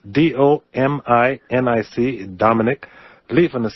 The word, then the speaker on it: Lieven: how to spell his name it's d-o-m-i-n-i-c dominic levin is spelt l-i-e-v-e-n it's dominic levin the book empire